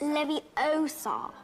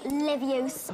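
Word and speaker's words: Leviosa: someone's eye out besides you're saying it wrong it's Levi Oar not levos asserted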